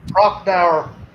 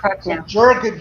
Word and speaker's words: Prochnow: And then Sutter Kane, I don't know how to pronounce his name. Slipknot was saying Prochnow. So Prochnow.